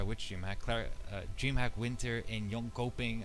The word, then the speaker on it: Jönköping: If you want to sit with us at DreamHack Winter, to clarify which DreamHack, DreamHack Winter in Jönköping, I think that's how you pronounce it.